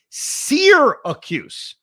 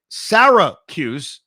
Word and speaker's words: Syracuse: The correct pronunciation is sear accuse like I like my steak with a good sear. The way you say it sarahuse is wrong and frankly we hate it.